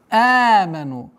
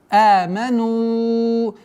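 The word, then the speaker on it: آمنوا: Аману. Долгота в размере двух огласовок фатхи. Аману. Здесь у нас долгота в размере четырех огласовок даммы. Аману. Нужно обращать внимание, чтобы фатха полноценное произношение было.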